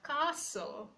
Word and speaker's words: castle: For example, we have castle, castle, not castle.